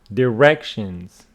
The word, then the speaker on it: directions: then listen and check directions directions directions so it is on the second syllable column two driverless driverless